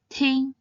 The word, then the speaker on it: 听: And finally, this character is read as ting. Ting means to listen. Its pinyin consists of the initial t and the nasal final ing. It should be pronounced in the 1st tone, ting, ting.